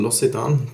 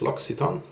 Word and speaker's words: L'Occitane: So used to saying L'Occitane, but it's L'Occitane. Thanks to Paul H from the UK, I now know how to pronounce this.